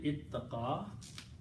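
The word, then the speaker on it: اتَّقَى: So the flexibility is that if the two letters are close in their pronunciation, then you can pronounce them as ta, two tas. Okay? So the word became ittaqa.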